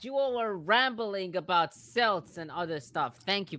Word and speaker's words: Celts: You all were rambling about Celts and other stuff.